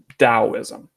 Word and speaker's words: Taoism: spelled two different ways with a D or a T at the beginning it's pronounced the same Taoism all right Taoism you